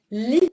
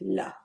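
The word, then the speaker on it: لِ: not la Muhammad but li Muhammad. هذا لمحمد. هذا للبنت. Okay, it's exactly the same. The spelling is exactly the same. It's only that the pronunciation in MSA is le and in dialect la.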